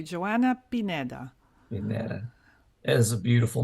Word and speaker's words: Joanna Pineda: Today we have Joanna Pineda.